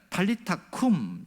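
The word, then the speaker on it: Talitha kum: 그러니까 탈리타 쿰, 이것이 원어의 발음인데요, 소녀야 일어나라 이런 말인데, 놀라운 것은 이 탈리타 쿰, 이 말은 마가만 기록했다는 사실입니다.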